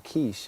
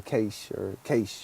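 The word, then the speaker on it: Quaich: So this Keepers of the Quiche, or Cache, I think is the pronunciation.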